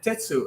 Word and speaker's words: Tetsu: Tsu is not a you. It's not an e. It's not an I. It's It's like an It's like a schwa kind.